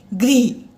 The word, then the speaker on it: गृह: जो री है, री के उच्चारण में कई बार गलती कर देते हैं बच्चे। जैसे हमने लिखा ग्रह, ये तो है बेटा र। अगर सी की तरह लिखा हो, री का चिन्ह क्या है, सी की तरह पड़ता है, इसका उच्चारण होता है री, री, गृह।